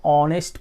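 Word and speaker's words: honest: ಆದರೆ ಎಚ್ ಅಂತ ಅನ್ನೋದು ಉಚ್ಚಾರಣೆಯಲ್ಲಿ ನಾವು ಏನು ಮಾಡ್ತಾ ಇರ್ತೀವಿ, ಅಲ್ಲಿ ಹ ಉಚ್ಚಾರಣೆ ಕೊಡ್ತಾ ಇಲ್ಲ, ಅಲ್ಲಿ ಏನು ಕೊಡ್ತಾ ಇರುತ್ತೆ ಗೊತ್ತಾ, ಆ ಉಚ್ಚಾರಣೆ ಕೊಡ್ತಾ ಇದೆ, ಓ ಉಚ್ಚಾರಣೆ ಕೊಡ್ತಾ ಇರುತ್ತೆ. ಹೀ ಈಸ್ ಅ ಆನೆಸ್ಟ್ person, ಆನೆಸ್ಟ್ ಆ.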